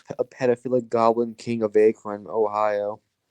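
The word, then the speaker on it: Akron: pedophilic Goblin King of Acron Ohio it's pronounced akine who cares same thing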